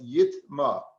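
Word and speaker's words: יטמא: falls upon it now this word is pronounced in the torah as yit ma that's the way it's it's read ma it shall be termed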